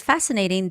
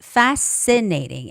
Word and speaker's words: fascinating: So the word fascinating the stress goes on a. Okay. So it's fascinating and SC c um